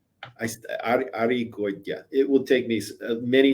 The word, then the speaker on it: Arregoytia: It's pronounced Arregoytia. Arregoytia.